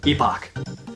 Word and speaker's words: epoch: familiar with so Marley Magus epoch even though I know that last one is actually the British way of pronouncing it but whatever it sounds cooler than epic it's great that this